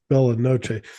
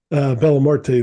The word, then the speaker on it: Bella Morte: That's Bella Noche or Bella Morte. I always say it wrong. Bella Morte, their album's called Pearl Hunting.